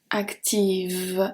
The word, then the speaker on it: active: So actif, active, it's softer, okay? So we turn the F into a V, active.